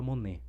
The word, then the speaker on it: Money: Acho que se escreve Money como se fosse tinheiro, mas eu acho que, se eu não me engano, se fala Monê, tá?